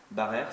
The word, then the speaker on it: Barrère: Barrère, ça s'écrit.